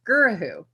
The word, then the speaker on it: Gurahu: And so how you do that in 3 syllables. Okay, Tony the Tiger, Gur. If you're gonna say, I'm so excited about something, you say, ah, Gur, ah. And if you're asking, who are you? Who? Who is my last name.